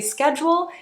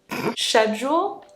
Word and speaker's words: schedule: few common ones so in America we say Schedule here they say sh-ed sh-ed shed-ule I'm still not saying that right, huh?